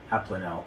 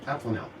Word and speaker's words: Abplanalp: I had this whole, Lance gave me a training on how to pronounce his name, and then I've got a tough one. Abplanalp. Abplanalp.